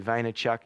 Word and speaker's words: Vaynerchuk: out even if you have a guess at his name phonetically Vaynerchuk you'll come across now